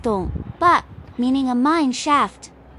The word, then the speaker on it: 硐: So they changed the character to tong, still pronounced dong, but meaning a mine shaft.